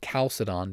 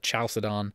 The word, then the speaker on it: Chalcedon: alphabet but it pronounces it's written like a CH in English but it's pronounced like a hard K so it's in Greek